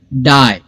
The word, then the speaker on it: die: तो हर एक वर्ड में जैसे डाई आप देखेंगे तो इसमें लेटर्स 3 है लेकिन साउंड सिर्फ 2 है क्योंकि इसमें ई साइलेंट है। डाई, DIE।